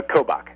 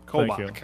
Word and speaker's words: Kobach: how do you say your last name uh kobach kobach all right and uh you were a professor